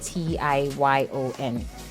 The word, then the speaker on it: Tignon: So Amastignon, basically Tion is spelled as Tignon, but pronounced Tiyyon.